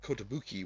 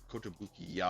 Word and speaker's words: Kotobukiya: But I did the Kotobuki one before last week and the week before, or Kotobuki-ya, I think is the actual proper pronunciation.